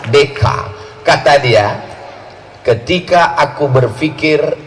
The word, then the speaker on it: Descartes: Cara membacanya Descartes.